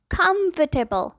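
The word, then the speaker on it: comfortable: महसूस कर रहे हैं, बट कौन बताए ये वो वाला टेबल नहीं है भाई, ये है टेबल। मतलब इसका सही प्रोनाउंसिएशन है कंफर्टेबल। कंफर्टेबल, जी कंफर्टेबल।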